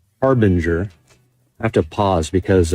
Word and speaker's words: Harbinger: I always call them, we call him hardbanger here, but his name, you know, I think it's actually pronounced Harbinger.